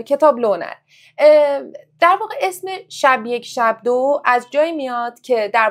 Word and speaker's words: شب یک شب دو: چاپ انتشارات خودمونم می‌گفتیم تلفز درستشم بگو چون خیلیا میگن شب یک شب د اصلا رو خود کتاب علامت ساکن آره روی خود واژه رو حرف ب گذاشته شده برای همین تلفظ صحیح شب یک شب دو هستش ب و آره میگم